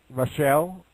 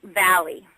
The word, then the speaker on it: Velle: Oh, it's Valley. Really? So you don't pronounce the 2 L's. You don't pronounce the 2 L's like kind of chick sound, like most Italian.